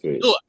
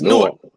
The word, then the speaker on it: Newark: That's like how the Jersey niggas say Newark. It's Newark.